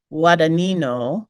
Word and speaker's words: Guadagnino: next film is Challengers by um uh Luca wano if that if the internet's pronunciation guide is correct that's what I go